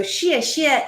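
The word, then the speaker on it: 谢谢: right this is now that is not s-h-i-t that is s-h-e-a or in the way that you phonetically do mandarin x i e so Shia Shia is my Chinese Namaste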